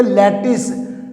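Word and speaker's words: lettuce: like lips like लट्टिस यह views spelling है इसके लैटिस ल I double T यू सी आई और इसका प्रनंसीएशन क्या है लैटिस वैसे ही याद की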